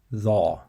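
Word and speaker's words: ظ: So again, it's dha, dha.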